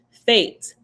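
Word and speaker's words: Fete: this one by now is fate but it's spelled f-e-t-e fate sign of sanctification panic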